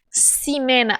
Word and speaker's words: Ximena: se pronunciar seu nome cinema Ah eu me faltou o conhecimento de que o X no início das palavras tem som de s sim Mena certo mas